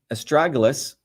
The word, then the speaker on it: astragalus: So again, as I started off, astragalus, that's the way you pronounce this, is known as a guardian root.